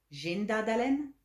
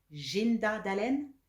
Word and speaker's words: zhinda dalen: torken, 500 mekken, mekken, mekken, 1000 dalen, 6000 jinda dalen, jinda dalen, jinda dalen, 7000 fer dalen, fer dalen, fer dalen, 8000